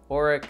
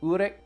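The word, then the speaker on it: Uruk: was their oldest city i'm not 100 sure on that pronunciation i've said oreck i call it eric at school i've looked it up on youtube and it's uric i feel kind of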